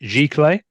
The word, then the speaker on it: giclée: How did you pronounce it? Giclée?